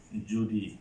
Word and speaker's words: যদি: যদি আছে একটা শব্দ, যদি শব্দের উচ্চারণ হবে কি? যদি।